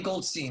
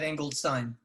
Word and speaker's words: Goldstein: so um uh and your ann goldstein right not angled sign i'm whatever whatever you